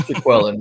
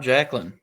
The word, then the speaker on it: Jaquelin: Some of people are calling him Jacqueline, but I'm like, this looks Jay Quellen to me, man. It does. It's pronounced Jaquellen. It's not Jacqueline.